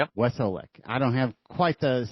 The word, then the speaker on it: Wesolek: We have Weslech on with us today. Am I pronouncing your last name correctly? You are. Wesolic. Yep. Wesole.